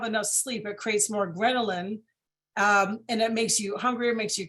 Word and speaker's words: ghrelin: It's called, my gosh, now I forgot, Ghrelin.